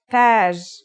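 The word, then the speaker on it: تاج: Tage. Repeat after me. Taj.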